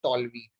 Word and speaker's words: toluene: नाम है methyl benzene, but IUPAC इसका नेम ही अब कंफर्म कर दिए हैं, टॉल्वीन। बहुत लोग टॉलीन भी बोलते हैं।